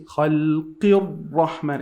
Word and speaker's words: خلق الرحمن: the word Khalq, so we have to say Khalqir Rahman. It's just like you're jumping from the Qaf all the way to the Ra. Not to the Lam?